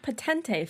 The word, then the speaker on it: Potente: Potente feels right in my soul.